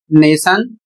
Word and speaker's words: nation: तो यहाँ पर देखिए नियम में लिखा है, यदि किसी शब्द में टी के बाद आई ए, आई ई, आई ओ या आई यू आए और उसके बाद कोई अन्य स्वर हो अर्थात वॉवेल हो तो टी का उच्चारण श होता है। तो यहाँ पर देख सकते हैं स्पेलिंग है NATION और इसे पढ़ा जाएगा नेशन।